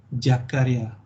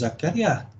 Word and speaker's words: Jakaria: Okay, maybe when you first register in my course, yeah, corporate communication, you notice my name, yeah, Jakaria, out of this world. Usually it's Zakaria, and this one Jakaria.